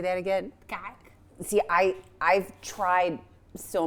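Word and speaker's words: kaak: Kak. See, I I've tried so many times to say that word. It's spelled K A A K. In my accent, it does not sound like that.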